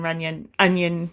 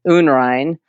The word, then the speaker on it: Unrein: This is an interesting side note because I love that my last name is German and it is actually pronounced in German Unrein, and it actually means impure, unclean, which I think is such a great name for a painter, don't you?